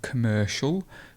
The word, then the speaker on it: commercial: comfortable now we have commercial commercial so the stress is here and we've got a schwa at the beginning so it's commercial and it's not commercial so it's commercial so